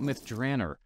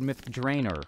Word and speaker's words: Myth Drannor: we're talking all about myth dranner or as I said myth drainer when I was pitching this idea to Ed Mr Greenwood ever gracious reminded me that it's probably pronounced that way somewhere in the Realms right so uh go